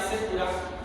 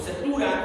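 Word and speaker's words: Cetura: Y en Génesis 25, del 1 al 2, nada más dice: Abraham tomó otra mujer cuyo nombre era Sétura, o Setura, es la pronunciación que cada quien quiera hacer, la cual dio a luz a Simram, Joxar, Medán, Madián, Isbac y Sua.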